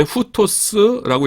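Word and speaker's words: οὗτος: 그 다음에 후토스라고 읽고요.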